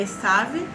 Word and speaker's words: Esav: Em hebraico é bonito, a pronúncia é Esav, que é o Esaú, e Yaakov é o Jacó.